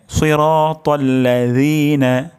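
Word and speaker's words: صراط الذين: না এটা পাতলা হবে এটা উচ্চারণের স্থান জিহ্বার জিহ্বার গোড়া সামনের দাঁতের আগার সাথে লাগবে হ্যাঁ তাহলে সিরাতাল্লাজিনা সিরাতাল্লাজিনা জিনা ভুল উচ্চারণ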